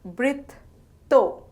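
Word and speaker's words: বৃত্ত: It is pronounced as britto and spelled as boirikar, toi, britto.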